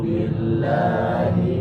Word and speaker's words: billahi: Karena huruf lafaz jalalah Allah itu ketika didahului harokat kasroh maka harus tipis. Billah bukan billahi, masih salah. Kalau dia dahului harokat fathah dan zummah maka dia bacanya tebal seperti Allahu, Yadullahu. Tapi kalau tipis billahi ya.